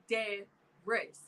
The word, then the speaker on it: Adairess: Adairess. Y'all can say Mercedes and Porsche and shit. I feel like you're missing some letters in your name. Adairess.